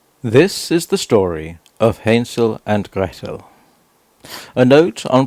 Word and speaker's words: Hänsel: least this means that the a is a soft a as in ape not a hard a as in apple I shall Endeavor to